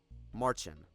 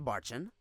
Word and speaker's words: Marcin: Marcin. That's how you say it. On that note, did you also ask for my help to interrogate Marcin?